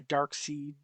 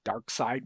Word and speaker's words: Darkseid: Gets kidnapped by Darkseid and or Darkseid, whichever you want to pronounce it, and she becomes sort of evilish, and it's really cool.